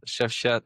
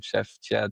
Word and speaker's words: Shefqet: But with the US clients, they were having a hard time actually to pronounce my full name. Chef Chad, Chef, Chef.